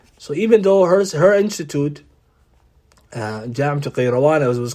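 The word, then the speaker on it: القيروان: So this city of Qayrawan, and sometimes it's spelled in English as Karawan, right, with a K, but it's Qayrawan. Its origin, the epistemology or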